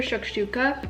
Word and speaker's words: shakshuka: and all their food i remember trying their shakshuka that's how you say it it's like the